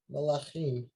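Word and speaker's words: מלכים: Malachim. Melachim, right? Mel- Malachim, because you're not pronouncing anything under the mem, so it's malachim.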